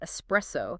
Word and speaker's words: espresso: words that sound similar think about espresso that extra X sound that so many people add it's probably because our brains are connecting it to words like Express or expensive where that X is more obvious our brains are like